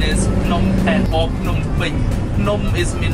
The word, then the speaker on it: Phnom Penh: Pronunciation is Phnom Penh or Phnom Penh.